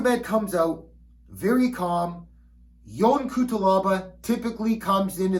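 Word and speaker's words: Yan: whatever the hell they're saying it's young okay all right my wife's background she came from Romania my father-in-law's name is young okay my mother-in-law she came from Moldova it's young not Ian alright pronounce it right come on people all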